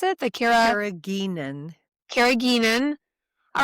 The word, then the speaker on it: carrageenan: How do you pronounce it? The Carrageenan. carrageenan.